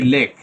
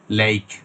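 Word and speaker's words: lake: আমরা বলি ধানমন্ডি লেক। কিন্তু আপনি এটার ট্রান্সক্রিপশন দেয়া থাকবে এভাবে। এই যে সাউন্ডটা আছে এটা উচ্চারণ হবে লেক। লেইক মেক হ্যা আমরা বলি আই আই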